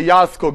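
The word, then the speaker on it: Jarlskog: what we call the yarskog invariant maybe you heard about the yarskog invariant she's from sweden so it's we start with jay but you pronounce it with ya as far as i know anybody here from sweden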